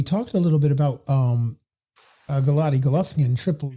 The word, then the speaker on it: Golovkin: Harold, my question is, so we talked a little bit about Golovkin, Triple G, where he might go.